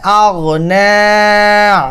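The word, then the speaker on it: أغنى: মা আগনা, আগ বলছি কেন? গয়ন হচ্ছে মোটা শব্দ, সকলে মোটা করে উচ্চারণ করবেন।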